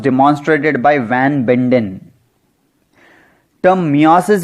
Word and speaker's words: meiosis: अब माइटोसिस के बाद सेल डिवीजन का अगला टाइप है मियोसिस। कुछ लोग इसे मायोसिस भी प्रोनाउंस करते हैं।